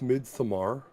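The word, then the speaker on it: Midsommar: being uh you need to understand it it's pronounced mid-samar yeah mid-samara okay is it really mid tomorrow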